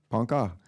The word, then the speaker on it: Ponca: A Ponca, do you pronounce it Ponca? Ponca, tribal councilwoman of Oklahoma, longtime native rights activist and environmentalist.